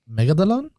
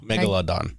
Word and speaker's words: Megalodon: cuz we haven't seen I believe in a megalon megalon megalon me megalon I don't know Megalodon Meg yeah there there we go see I